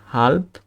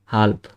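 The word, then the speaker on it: halb: হাল্প, এটার উচ্চারণটা কি ছিল আমাদের? হাল্প।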